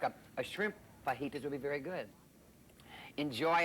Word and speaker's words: fajitas: It's pronounced fajitas.